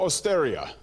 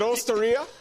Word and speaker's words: osteria: where are we tonight you two are at porto austeria okay is it osteria yeah you're still on